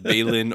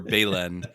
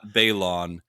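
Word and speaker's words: Baylan: But Patrick continues, for the love of the Force, his name is pronounced like Balin or Balen, not Balon.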